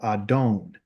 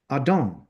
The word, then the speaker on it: adon: know my master but to say master it will be called adone right so this is how you say master ad don't but when you say